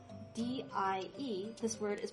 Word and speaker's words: 蝶: Notice, even though the pinyin is spelled D-I-E, this word is pronounced die, not die, like the English word, you know, the one meaning kick the bucket.